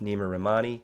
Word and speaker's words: Neama Rahmani: G here sitting with Nima ramani am I pronouncing your name correctly that's absolutely perfect thanks Stephen beautiful excited